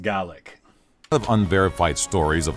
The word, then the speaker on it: Gaelic: with some differences but Irish is Gaelic in Scottish it's pronounced gallic of unverified stories of